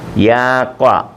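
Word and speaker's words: ياقة: ഫുസ്താൻ ഫുസ്താൻ frock gown യാക്ക യാവ യാക്കത്തു എന്നാണ് ഈ താന് ഉച്ചാരണമില്ല യാവ കോളർ യാവ കോളർ യാവ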